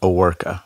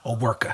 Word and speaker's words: Owerka: Aworka. Aworka. And in Russian it's Overko.